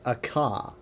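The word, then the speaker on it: Akha: Akka is he sounds like dragon, doesn't he? Because Akka is dragon in Elvish, but that is his name, but it's spelled a bit differently. It has an H.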